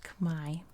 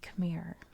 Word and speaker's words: Khmer: up in translation so khmer is really pronounced kamai i want to make a note of that that's how you say it in the my language but in english we say khmer and that's just because that's how um it is in the english language kind of like the